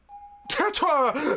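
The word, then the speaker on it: tarot: it's t the T the final T is silent Tetra now focus on the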